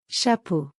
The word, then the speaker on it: chapeau: In French it is written and pronounced as Chat. hat. In French it is Chapeau.